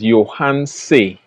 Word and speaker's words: Yohance: Is your name Yohance? Yohance. it is Yohance.